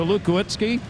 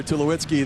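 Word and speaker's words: Tulowitzki: that bad troy to lukewitzki and i think i put an extra syllable in his name schuliwitzki sorry troy tell you what he's some kind of player to lewitsky the colorado rocky shortstop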